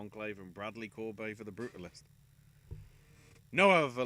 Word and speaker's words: Corbet: From what Wikipedia pronunciation's saying, it is a EI as in the A in face. So I think it is Corbet.